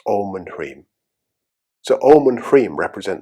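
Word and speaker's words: ह्रीं: Om and Hrim. And if you spell it, it's H-R-E-E-M.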